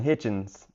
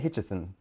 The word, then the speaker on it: Hitchens: If I say Richardson Hitchens, I say it right every time. But if I leave his first name off, I end up saying Hitchison.